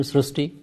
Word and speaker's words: Srushti: We have heard Srishti, but this is a very unique name, Srishti. So in Marathi, the word "ri" is pronounced as "ru," so that is why the pronunciation goes Srishti.